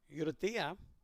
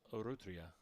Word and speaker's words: Urrutia: Uratia. Help me if I'm pronouncing that wrong, Coach. I'm going to try to write this down. What? He told me it was Urrutia. Urrutia. Like Urrutia. Yep. Urrutia. Okay.